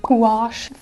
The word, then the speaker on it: gouache: work with I recently fell in love with gouache that's how you pronounce it it's like the love child of